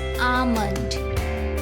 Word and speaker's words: almond: Now, in this word, the L is silent. It's not almond or almond, it's almond. It's almond.